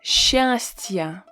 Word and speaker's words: счастье: S, Ch, when you have this combination, you need to pronounce it as Sh in the majority of cases. Sh. S, Ch is pronounced as Sh. Of course, if you say счастье, people will be able to understand you, but you will sound really unnatural. So we pronounce it as sh. Счастье.